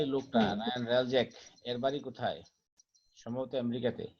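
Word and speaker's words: Hreljac: Ryan রালজ্যাক। Ryan রালজ্যাক। হুম, আচ্ছা। মানে এইচ In উচ্চারণ হবে না 1990, আর কি, এইচ উইল বি সাইলেন্ট।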